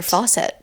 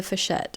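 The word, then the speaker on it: Fawcett: Oh, I always say Heather Faucet. I see I've heard somebody say Heather Fchette and I'm not sure if that's an Australian pronunciation. That's completely wrong.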